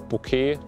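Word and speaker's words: bokeh: that and also uh the bouquet that is the right pronunciation um looks pretty nice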